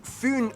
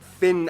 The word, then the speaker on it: Fyn: It is connected to Fyn Island, not Finn Island, by the Great Belt Bridge completed in 1998.